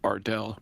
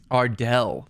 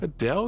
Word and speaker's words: Ardell: It's pronounced Ardell, by the way. Ardell. Thank you. Ardell. Yep. Ardell. Ardell. Yep. Ardell with an L. Adele here.